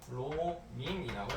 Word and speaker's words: 브로민: 자, BR이라고 쓰는 애. 자, 얘는 브로민이라고 읽어줄게요. 얘는 액체야.